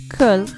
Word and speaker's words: Köln: city of Cologne, or Köln as it is pronounced in German.